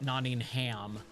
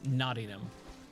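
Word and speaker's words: Nottingham: notingham and I'm sure it's pronounced naam right it's not naing ham it's naum but that's how my American accent pronounces it I'm supposed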